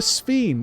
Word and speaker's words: Sphene: her Sphene that rhymes with Queen?